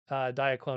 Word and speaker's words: Diaclone: We have Diaclone or Diaclone, or however you want to pronounce it. Diaclone would be the correct one.